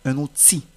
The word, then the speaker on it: outil: mot outil par exemple dans le mot outil la lettre L ne se prononce pas on ne va pas dire un outil mais on va dire un outil outil c'est de même